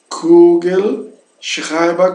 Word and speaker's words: Kugelschreiber: Der Kugelschreiber com uma B bastante explosiva, forte, né?